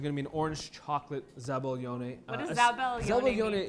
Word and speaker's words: zabaglione: Does anyone want to pronounce it together? Zabaglione. Zabaglione.